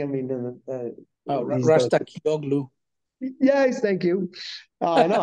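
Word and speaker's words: Razgatlıoğlu: And Rogu, whatever his name is, I have trouble pronouncing. I mean, Rastakioglu.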